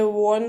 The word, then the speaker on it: 원: And it is written, it is written like this, and it is pronounced as won.